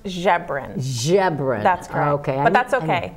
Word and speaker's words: Ziobron: I'm going to introduce my guest it's Melissa zebron pretty close pretty close okay what is it it's pronounced Sharron jebra that's okay that's okay it's okay no I'll